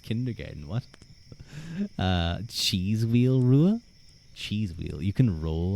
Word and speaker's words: Ruadh: but I I am I am from Ireland so that's where my spelling comes from. So, my name is Rua and this is Bred Rua, also known as Brua.